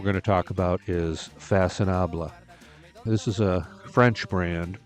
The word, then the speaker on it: Façonnable: have actually pronounced it Faconnable. I think it's a little bit of an unfortunate name for a fashion brand because Façonnable sounds an awful lot like a fancied up version of fashionable.